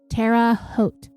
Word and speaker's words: Terre Haute: he got back to Terre Haute, Indiana, I am apparently pronouncing that incorrectly, Terre Haute. Terre, it's Terre, but we don't say Terry, we say Terra, and Haute, Haute, Terre Haute, Indiana.